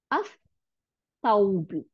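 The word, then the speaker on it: الثوب: তার মানে লামটা যখন সার সাথে যুক্ত হয়েছে, তার মানে সা, একটা সার উপরে জবর আর একটা সার উপরে সুকুন, দুইটা মিলাইয়া সাদ্দা হয়ে গেছে। তাহলে আস, আস সাউবু, আস সাউবু, এই যে সা আর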